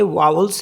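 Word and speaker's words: vous: means of द ऐसी वी ओ यू एस वू इसे पढ़ते हैं वू वू मींस यू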